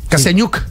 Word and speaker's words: Kasiañuk: ¿Pronuncié bien el apellido? Sí. Kasianyuk.